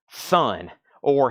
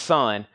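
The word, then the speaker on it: Sunn O))): And last night, I listened to Sun, or Sun-O. It's pronounced Sun.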